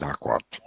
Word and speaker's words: AQL: optimization of curies a english abbreviation is not pronounceable aql we call it aquat so briefly i will